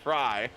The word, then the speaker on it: Frey: Apparently I've been saying Frey wrong this whole time. It's Fry.